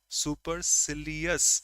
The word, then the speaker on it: supercilious: I think that's the pronunciation we can rhyme. Supercilious.